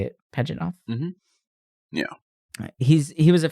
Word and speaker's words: Pajitnov: That's how you say it, Pajitnov.